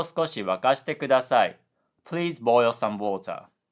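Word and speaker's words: 沸かして: And Duolingo pronounced wakashite incorrectly because wakashite has a low high high high pitch pattern, but instead Duolingo said wakashite, low high low low, which is incorrect. So, the correct version is oyu o sukoshi wakashite kudasai.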